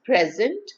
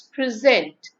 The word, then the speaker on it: present: Stress also depends on the part of speech of a word. For example, when it's a noun, it's pronounced as present. When it's a verb, it's present.